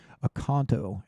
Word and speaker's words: Oconto: Oconto around 6 p.m.